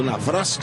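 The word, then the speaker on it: Nawrocki: E a Jacek Navrok, ou Navrosk, como ele pediu para ser pronunciado, está fazendo a primeira modificação.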